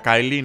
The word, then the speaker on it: Kylie: es el de Kylie Ya sé que se pronuncia Kylie no kyle en el el vídeo